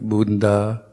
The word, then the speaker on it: Buddha: for English speakers is try to pronounce both letters of a double consonant so um I try to sneak in a little um sound between a double consonant like Buddha Saba Satanta but it never quite